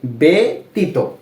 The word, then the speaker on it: ব্যতীত: আমরা কিন্তু ব্যতীত এভাবে পড়ছি না, কিভাবে পড়লাম, ব্যতীত, এর মতো উচ্চারণ হবে এ, ব্যতীত।